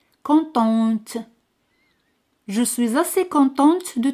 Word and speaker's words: contente: Al añadir al final se pronuncia T. Contente.